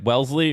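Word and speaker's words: Wellesley: well Welsley yes wait Welsley or or wesle not Wesleyan Welsley like the Vanguard mutual fund I remember this is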